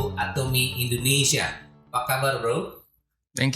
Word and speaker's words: Atomy: Apa memang disebut bacanya Atomy? Ya betul. Atomy ya.